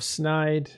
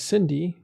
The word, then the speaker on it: SYNDE: Well, Cyrus, once again, thank you, CEO of SYNDE. They are under attack in their wormhole. Expect to be evicted this Saturday. Good luck to you. Thank you. It's usually pronounced SYNDE, Matterall. SYNDE, not SYNDE.